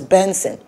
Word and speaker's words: BNXN: where he noted that his new name will be pronounced as benson according to his announcement